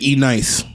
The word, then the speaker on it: NYCE: I call it E-Nice. Yeah, E-Nice was. That's exactly. Okay. So it's exactly. like 2002. But they pronounce I like it that E-Nice.